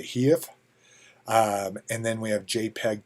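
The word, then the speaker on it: HEIF: format um and then i have never heard this spoken maybe i should have gone to dictionary maybe they have a pronunciation but i i'm going to call it a heave and then we have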